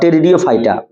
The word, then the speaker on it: टेरिडियोफाइटा: अपुष्पोद्भिद यानी कि क्रिप्टोग्राम्स के 3 पार्ट हैं, TBP, थैलोफाइटा, ब्रायोफाइटा और टेरिडियोफाइटा। पी इसमें साइलेंट है, जैसे साइकोलॉजी में पी साइलेंट नहीं हो जाता है।